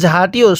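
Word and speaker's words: ز: পড়বো র এরপরে ঝা এটাকে যা পড়া যাবে না যা বাংলায় ঝমন উচ্চারণ হয় এরকম ভাবে উচ্চারণ হবে ঝা এরপরে এই হরফটির নাম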